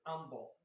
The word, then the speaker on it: Humble: you're being humble but there's humble texas but texas pronounce it as humble they don't say the letter h and i had bought